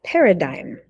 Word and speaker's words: paradigm: So the G in that word is silent. You say that paradigm.